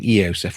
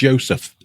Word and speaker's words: Yosef: Everyone keeps saying Eosef, which is how I think the horsemen pronounce it. It's Yosef. Okay, it's Yosef.